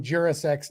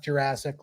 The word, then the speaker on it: Jurasek: Anyway, I will take this time to remind everybody that John Jurasek's name is pronounced Jurasek, not Jurassic, like the time of the dinosaurs.